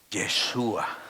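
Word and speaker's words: ישוע: Yeshua.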